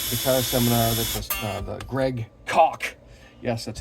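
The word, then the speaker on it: Koch: the uh uh thear seminar that the Greg COA yes that's how you pronounce his name it's not cooch it's not cootch it's it's pronounced he made sure to tell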